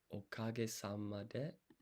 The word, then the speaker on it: おかげさまで: So it's okage sama de. Let's check the pronunciation real quick.